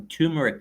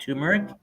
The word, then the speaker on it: turmeric: like yeah my wife she bought some tumeric stuff it's called turmeric and they sell it